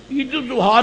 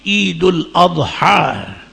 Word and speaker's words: عید الاضحیٰ: آج بھی ٹیلی فون پر کے دوست مسئلے کو عید الاضحیٰ، اب ان کے میں تلفظ ٹھیک کروں کہ مسئلے بتاؤں. عید الاضحیٰ نہیں ہوتی، عید الاضحیٰ.